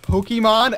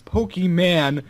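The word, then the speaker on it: Pokémon: My stepmom pronounced Pokemon as Pokeman.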